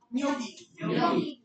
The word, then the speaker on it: gnocchi: Next word is the pronunciation is gnocchi. Pronunciation क्या होगी?